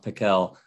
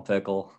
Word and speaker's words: Pickell: david pickle well pickell it's pronounced pikel but we just call him pickle uh another chicago guy